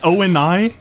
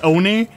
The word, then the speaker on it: ONI: how to pronounce Oni it's not o and I you don't say every letter of it it's Oni they say it in